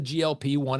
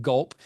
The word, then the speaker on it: GLP-1: That's the GLP-1. It's not pronounced gulp, even though you gulp food, and that's kind of the whole point here.